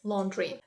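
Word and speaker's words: laundry: і той варіант Правильний Зверніть увагу на слово lond Ring тут у нас є буквосполучення a you і воно вимовляється саме як о londry washi Up або ваш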